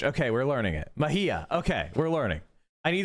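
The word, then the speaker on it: Mejia: this is really embarrassing Mahia Mahia okay J is like an H okay we're learning it Mahia okay we're learning I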